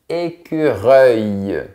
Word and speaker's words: écureuil: Et on a un petit son de i final. Reuil. Écureuil.